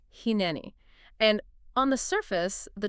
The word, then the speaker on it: Hineni: So phonetically, it's Hineni.